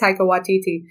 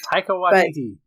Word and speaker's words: Taika Waititi: But this time we get Taika Waititi, or however you pronounce his name. You're right. I think it's Taika Waititi. Taika Waititi.